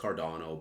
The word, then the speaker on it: Cardano: Yes, I know it's pronounced Cardano, but, you know, I'm going to do what I want to do, you know?